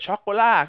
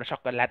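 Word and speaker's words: Chocolat: นั่น เอง Battle Sister ช็อกโกล่า ครับ ผม อ่า อย่า ไป อ่าน ว่า ช็อกโกแลต นะ ผม ไม่ ชอบ เลย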